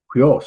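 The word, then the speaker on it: υἱός: This is hui. It's goes the other way, this way, and you just put the H in front of it. So this would be huios.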